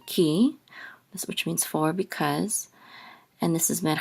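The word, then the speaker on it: כי: Okay, this is a kaf with a hirik, and the yud together will say ki, which means for, because.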